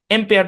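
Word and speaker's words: ampere: এমপিয়ার অরজিনালি এম পেয়ার আর কি এমপিয়ার হ্যাঁ এম্পিয়ার বুঝেন তো মানে বিদ্যুৎ প্রবাহের একক মনে হয় খুব সম্ভবত ভুলও হইতে পারে আমার কথাটা যাই হোক মোস্ট প্রবাবলি বিদ্যুৎ প্রবাহের একককে মানে এম্পিয়ার দিয়ে মনে হয় প্রকাশ করা হয় তো এম্পিয়ার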